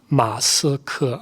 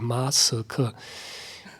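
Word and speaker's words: 马斯克: Masike. Okay, that's quite easy. Masike. 2 characters would have been easier. Masike.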